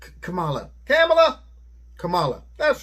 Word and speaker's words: Kamala: do you say that what kangaroo no it's kamala kamala kamala that's right